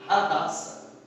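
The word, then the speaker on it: הדסה: A palavra murta no hebraico, ela quer dizer, ela falada, é pronunciada como Hadassah.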